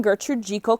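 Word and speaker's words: Gertrude Jekyll: Gertrude G equal Rose yes I am saying Gertrude jiko correctly that is how you pronounce it this is a brand new rose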